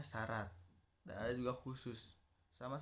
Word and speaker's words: syarat: Nah, yang terakhir ada konsonan rangkap khusus, contohnya syarat, nah ditulisnya sy a, nah gitu, tapi dibacanya syarat.